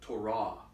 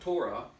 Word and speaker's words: Torah: it's called Torah okay I want you to say that and noticed it the emphasis is on the second syllable the Torah it's not Torah it's wrong okay and write that down